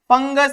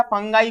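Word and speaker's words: fungi: कवक को हम एक और नाम से जानते हैं, इसको क्या बोलते हैं हम, फंगस भी बोलते हैं, या फंगाई बोलो, जो भी, फंगी बोलना है, फंगाई बोलना है।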